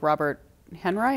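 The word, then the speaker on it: Robert Henri: She helped connect him with Robert Henry, is that how you pronounce it?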